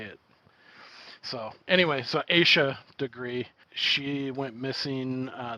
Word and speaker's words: Asha: it and i'm so i'm saying it asia that's how i i heard it as well i i saw i saw like a pronunciation thing yeah and then i also watched a a little 20 minute video that the fbi put out and they they said asia as well okay so